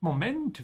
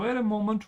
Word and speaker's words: Moment: Hey, wait a moment. Who are you? Notice how I'm pronouncing Moment. The emphasis is on the end. In English, you say Moment. The stretch is here.